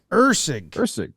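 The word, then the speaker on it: Lucas Erceg: Lucas, did we have him on the pronunciation street? Lucas Ursig.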